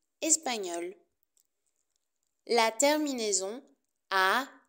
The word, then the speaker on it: espagnol: par exemple espagnol espagnol attention c'est la même prononciation au masculin et au féminin espagnol espagnol la terminaison a n